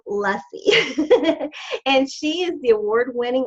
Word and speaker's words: Luesse: In case you're wanting to look her up, you can find it, but it's pronounced Luesse.